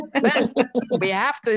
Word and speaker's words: Benz: We have to teach them how to pronounce the German way. Mercedes, Benz, Benz.